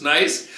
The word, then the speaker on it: Nice: HE says I'm going to take you to Nice. Yes, true. A long ago when we were both just kids I we looked at the map she goes that looks nice.